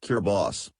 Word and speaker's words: Kiribati: location size and extent kir body pronounced kir boss consists of 33 islands